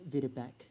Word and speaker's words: Videbech: Actually, I think that's pronounced as Videbek, but I just wanted to say the word bitch, because that's who I am.